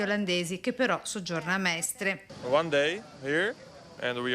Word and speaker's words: Mestre: coppia di fidanzati olandesi che però soggiorna a Mestre. One day here and we are staying in Mestre. If I pronounce it good.